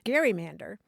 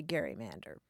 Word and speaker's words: gerrymander: Gary Mander and indeed for a long time they did say Gary Mander really yeah yeah and it the pronunciation changed over time I think as the the governor became less well known and also the uh the word itself was transmitted not uh by sound but in print as it Gary man